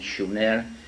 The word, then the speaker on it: Sumer: in a land called Sumer, in the correct spelling and pronunciation, Shumer, which meant land of the guardians, in southern Mesopotamia, which is today's Iraq.